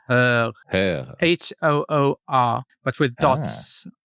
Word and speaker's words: Höör: No, it's Höör, H-Ö-Ö-R. So. Okay. Höör, yeah. Yes, like Malmö.